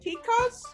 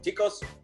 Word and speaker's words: tico: I may not pronounce it correctly, but Costa Ricans refer to themselves as ticos, which would be males, and ticas. Did I pronounce it right, tica?